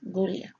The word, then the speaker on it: Goliath: Goliath is found in Strong's H1555 and pronounced there as Goliath.